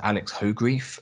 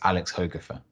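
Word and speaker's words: Alex Hogrefe: guy called alex hogafer now i have pronounced this guy's name as alex hoegrief for about 10 years and i only found out in an interview with him recently that his name is pronounced alex hoegerfer so i feel awful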